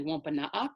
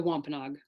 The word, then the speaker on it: Wôpanâak: language reclamation project um although that spelling right there of of wampanoag is actually wampanoag so that's the the wampanoag pronunciation wampanoag is more like the anglicized pronunciation um so wlrp serves